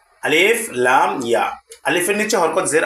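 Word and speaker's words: عَلَى: হচ্ছে অতিরিক্ত হরফ আর অতিরিক্ত হরফগুলো শুধু লেখার ক্ষেত্রে ব্যবহৃত হয় কিন্তু পড়ার ক্ষেত্রে ব্যবহৃত হয় না তাহলে উচ্চারণটা কেমন হবে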